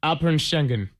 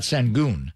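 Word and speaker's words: Saquon: being a goon and Ernie Johnson was giving us a lesson at the halftime how to pronounce his name how do you pronounce his name well when he played the audio he was sounded like up shenen Shen shenen not senon no no I think you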